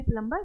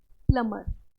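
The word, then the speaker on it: plumber: सीखा है तो अब हम आगे से कभी भी प्लंबर नहीं बोलेंगे हम इसको क्या बोलेंगे प्लमर ट प्लमर नेक्स्ट हम देखेंगे कुछ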